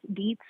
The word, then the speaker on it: Dietz: So I am at Dietz Diaries, and that is spelled like diet with a Z, Dietz Diaries, but it is my last name.